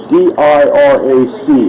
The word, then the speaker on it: Dirac: I don't know how to pronounce all these Polish names. It's D-I-R-A-C is how you spell the guy's name.